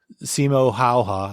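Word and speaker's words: Simo Häyhä: Because I know that there was mention that Simo Hayha, that's how you pronounce it, I think.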